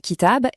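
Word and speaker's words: كتاب: On le prononce kitab et c'est le mot pour livre.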